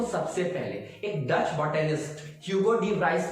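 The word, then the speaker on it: Hugo de Vries: सो लेट us analyse that कि mutation को सबसे पहले एक Dutch botanist ह्यूगो डी व्राइस ने समझाया था, और we pronounce it एज ह्यूगो डी वेरिस।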